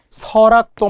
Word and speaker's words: 설악: 설악도 마찬가지예요. 설악산의 설악도. 리을이 끝 소리로 보이나요? 그러면 L로 적어야 할 것 같나요? 그렇지 않다는 거예요. 왜? 발음은 리을이 올라가 설악이 되니까요.